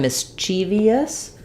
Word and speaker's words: mischievous: So it looks kind of like mischievous, mischievous, but it's really 3 syllables. So rather than mischievous, we can think about it like mischievous.